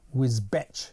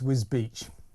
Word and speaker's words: Wisbech: I've been mispronouncing Wisbech. It's Wisbech.